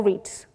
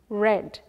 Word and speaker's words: read: tense is read or reads the past read the past participle read you pronounce this as red like the color red so and the ing